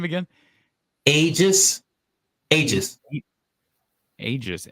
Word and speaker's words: Aegis: do you say that get that name again ages ages ages how do you spell it a e g i s that's your